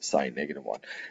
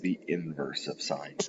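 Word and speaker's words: sin⁻¹: It looks like it just reads sine -1. That's not how we pronounce it.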